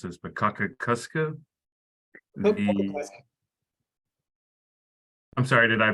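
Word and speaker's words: Cockacoeske: Also, and please correct me if I mispronounce this, but Kakakuska. I'm sorry, did I pronounce that correctly? It's pretty close. It's Coca-Cola.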